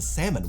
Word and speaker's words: salmon: You wouldn't exactly pronounce the L in salmon, would you?